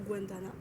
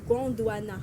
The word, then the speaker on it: Gondwana: le film Bienvenue au guandana Guana faut savoir prononcer pardon gondouana voilà faut pas c'est c'est